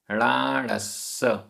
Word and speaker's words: णाणस्स: य णाणस्स, आधा सा पूरा सा, णाणस्स।